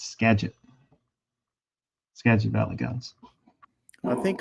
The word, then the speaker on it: Skagit: but he had pronounced it the other day as Skagit. It's Skagit.